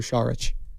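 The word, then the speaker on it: Šarić: I kind of like that for Saric. Because that's how it's pronounced, by the way.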